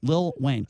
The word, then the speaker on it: Lil Wayne: See, I pronounced it right. Yes, you did. Lil Wayne.